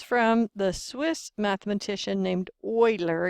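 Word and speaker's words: Euler: the Swiss mathematician named Oiler it's pronounced like a German word Oiler and so that's in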